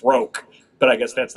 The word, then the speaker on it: Crochet: That one's weird because you have to change the pronunciation, because obviously when in his last name it's Roke.